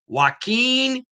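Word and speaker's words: Joaquín: Waqen Anduhar.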